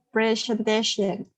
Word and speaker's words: presentation: Nah, TION harus shen ya. TION harus shen. Shen. Coba, Afifah sekali lagi. Virtual presentation. Virtual Go. virtual presentation.